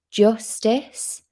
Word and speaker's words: Justes: And the author is called Chris Justice, and it's spelled Justes.